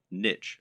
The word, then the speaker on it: niche: correct internet business parlance what is your niche or niche as some people pronounce it a niche is